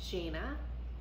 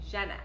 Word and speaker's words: Djena: So I think it's Djena. It's spelled D-G... D-J-E-N-A. Whew. D-J-E-N-A. But remember that movie Django? Jenga? Django. Jenga! Yeah, Django. Djena.